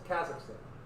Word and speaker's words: Kazakhstan: I'm trying to pronounce it correctly. I would say Kazakhstan, right? It's Kazakhstan. I'm getting it.